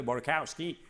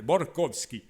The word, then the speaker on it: Borkowski: Il y avait aussi un Américain, mais d'origine russe, que tout le monde appelait Borkowski. Moi, je l'appelais Borkovski. Et il venait me trouver, puis il dit, mon grand-père parlait comme ça.